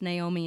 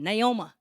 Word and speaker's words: Naomi: And so I wrote this song for my maternal grandparents, Naomi and Jean. It's called, I pronounce it Naomi, but since my granddad was from Deep East Texas, he pronounced it Naoma.